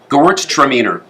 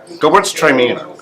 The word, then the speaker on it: Gewürztraminer: That is a really good Gewürztraminer. Minor? Glad you like it. How do you pronounce it? Gewürztraminer, because it's Gewürz and then Traminer. Yeah. Gewürztraminer.